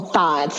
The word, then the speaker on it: THOT: I think girls now call them thoughts.